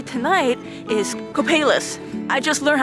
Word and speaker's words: Copalis: And one of the 3 tonight is Copalis. I just learned how to pronounce this word like 10 minutes ago and I'm trying to remember. I've also heard it pronounced as Copalis.